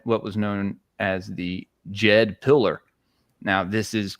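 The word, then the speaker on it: Djed: And when you look into Pat and the uh he had what was known as the Jed pillar. Now, this is spelled DJ E D because they were Jedis, right?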